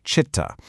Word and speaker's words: Citta: That's pronounced Citta.